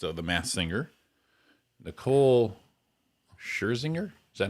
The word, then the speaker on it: Scherzinger: Singer and host, one of the hosts of The Masked Singer, Nicole Scherzinger. Is that how you say it? Yeah. Nicole Scherzinger.